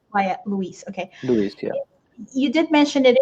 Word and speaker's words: LUIS: next question Andy Jeremy is asking so is Louise um did I pronounce that correctly or do you say Luis okay Luis yeah you did mention it is from Microsoft